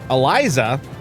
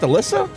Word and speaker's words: Eliza: the way Eliza what Eliza it's not pronounced Alyssa since when is Alyssa spelled with only one s become Eliza I've been saying it